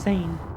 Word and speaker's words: Zane: x coming up because the name is zane it rhymes with pain and you're going to be